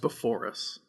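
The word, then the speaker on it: Beforus: included the pre-histories of baphorus alternia earth b1 and earth b2 i think it's pronounced before us but for us yeah like before oh yeah yeah okay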